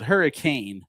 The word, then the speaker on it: Hurricane: Those of you who've never been Southern Utah Mormons, Hurricane, spelled hurricane, but it's pronounced Hurricane.